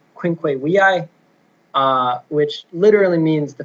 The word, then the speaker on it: Quinque Viae: So what specifically we're going to be reading is Thomas Aquinas's Quinque Viae, or if you want to pronounce it in the Latin way, Quinque Viae, which literally means the 5 ways to prove the existence of God.